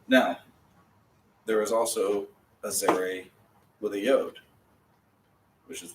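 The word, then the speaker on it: צֵירֵי: But Zere is how it's Zere. And it says A. A? A. Long A. Oh. A as in play.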